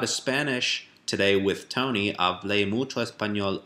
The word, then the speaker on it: hablé: So same idea, like it sounds like café, but hablé, and that's your structural thing.